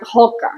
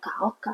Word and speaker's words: Hoka: So, for example, I said Oka, not Hoka. And when I'm trying to explain him, like, this is my favorite, and I say why, they were like, Oka.